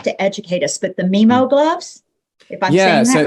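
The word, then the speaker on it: MiMU: educate us but the meemo gloves yeah so right yeah and look i i i uh memu i think was the pronunciation i've heard from imogen heap but like something to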